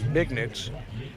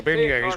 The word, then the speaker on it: beignets: Lawson Mann calls them bignets. They're beignets, way it's pronounced.